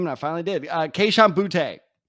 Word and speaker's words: Boutte: So I've been meaning to learn how to pronounce this guy's name, and I finally did. Kayshon Boutte. It's Boutte.